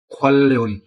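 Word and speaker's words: 관련: ये लफ्ज है खोन रियन, प्रोनाउंस होता है खोलन।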